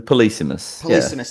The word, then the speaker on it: Polysemous: so first of all how do you pronounce this game is it polysemous yeah basically the policemeness okay thank you and